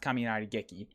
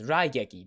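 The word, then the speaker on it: 雷撃: gekki yes kaminarieki that's it's not pronounced kaminari geki it's raigeki being struck by lightning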